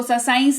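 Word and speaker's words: science: अगर आप देखें तो यहां पर भी सी के ठीक पहले एस लगा हुआ है, लेकिन क्योंकि ये वाला स्पेलिंग रूल ये शब्द फॉलो करता है, इसके वजह से इसको साइंस नहीं साइंस पढ़ा जाता है, जिसका मतलब होता है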